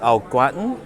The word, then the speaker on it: au gratin: And for the sides, I'll take your potatoes au gratin. Yes. Did I pronounce that right?